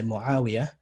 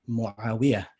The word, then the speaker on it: Muawiyah: So most Arabs would say Muawiyah, and Egyptians would say Muawiyah. So the stress is on the wiyah instead of the ain and the alif.